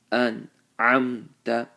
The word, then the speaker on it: أنعمت: So the way to do it is to give a moment of silence after you pronounce the noon and the meme. An'amta, an'amta alayhim.